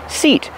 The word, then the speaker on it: seat: Pronunciation, seat. Use a long E like green beans.